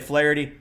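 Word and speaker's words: Flaherty: be for our man Flity. So if you're new to baseball, his name looks like Flirtie. So if you hear me say Flity, it looks like Flirty.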